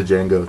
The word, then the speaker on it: Django: you know after seeing the django or django the django the d is silent